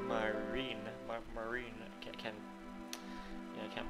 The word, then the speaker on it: Marine: I don't really know myself, but she's the one I left Marin with. Marin. Actually, it's Marine.